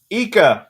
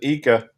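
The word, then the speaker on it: Ika: oh yeah it is called the fat eca or fat icah however you want to pronounce it i think they pronounce it eeka by gary yamamoto it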